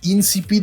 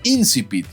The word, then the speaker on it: incipit: "No, estarás preguntándote por insipit, güey." Y ya investigando me di cuenta de que sí, la palabra es incipit y todo este tiempo la estuvimos pronunciando mal.